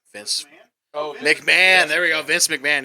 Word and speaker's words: McMahon: agent is mahanan M McAn how do you pronounce his name Vince McMahon there we go Vince McMahon yeah that's what